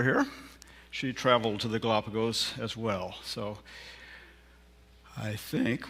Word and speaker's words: Galapagos: And it's Galapagos. That's the correct way to say it, I think.